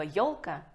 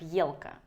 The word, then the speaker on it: ёлка: В устной же речи все несколько сложнее, потому что мы не можем произнести слово «елка» как «елка», а написать, кстати, можем.